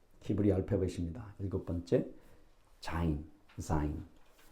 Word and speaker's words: 자인: 일곱 번째 자인, 자인, 자인. Z 발음 나요? Zebra 할 때 자인 일곱 번째.